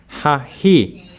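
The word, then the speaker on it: ההיא: It is pronounced Hahi, hey.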